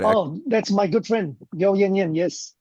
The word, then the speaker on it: Yeo Yann Yann: But Yeo Yann Yann, is that Oh, that's my good friend, Yeo Yann Yann. Yes. Yin Yin? Yan Yan, it's yeah.